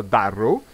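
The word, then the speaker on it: Durrow: Ora scendiamo ragazzi, facciamo queste cose qua a Darrow, scusate, questo si pronuncia Darrow, mi teletrasporto al porto.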